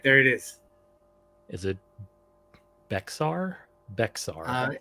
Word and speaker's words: Bexar: Is it Bexar? Bexar. It's pronounced Bear County. Bear.